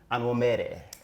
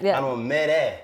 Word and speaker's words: Onwumere: Welcome to the show, Onwumere. What's happening, y'all? What's good, girl? What's good? I said it right. Yep. Onwumere. See, I said that makes you real when you say it with an accent.